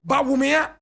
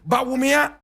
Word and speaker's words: Bawumia: And he's telling one of his own, Bawumia. That's the correct pronunciation of the name. Bawumia.